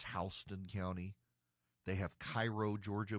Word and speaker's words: Houston: They've got Houston County, but it's Hston County.